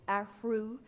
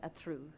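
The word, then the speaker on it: Athrú: easy for american people to say but it's aru designs but it's spelled a t h r u with a accent over the u and i'm sure everybody will pronounce it at through so and that's very acceptable so that is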